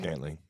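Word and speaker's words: Scantling: Scantley.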